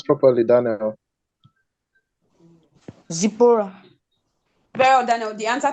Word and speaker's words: Zipporah: Zippo. Is that the right pronunciation? Pronounce properly, Daniel. Zipporah.